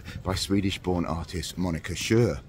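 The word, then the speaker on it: Sjöö: born artist Monica Shure I'm not sure if I'm pronouncing that right I've heard some people in here here in in in Britain call her Monica Shu I've heard others call her sh so I'm going with that but I'll call her monik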